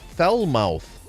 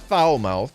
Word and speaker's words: Falmouth: hyperborea Falmouth Falmouth foul fell mouth fell mouth not foul mouth the foul mouth hyperboreal